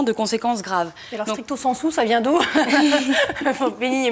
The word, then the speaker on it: stricto sensu: Stricto sensu, vous dites. Oui, je prononce à la latine, c'est un peu snob, c'est vrai.